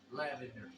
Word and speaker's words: Lavender: His last name is spelled just like it sounds. Lavender, just like the color.